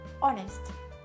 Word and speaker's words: honesty: た最初はサイレント h です h を発音しない単語です例えば honesty お熱これもこうです発音する